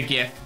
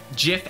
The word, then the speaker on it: GIF: I know the so the original creator of the gift I said that it's Jeff but in the diction at this point in the dictionary Jiff and GIF are both a thing so it's basically in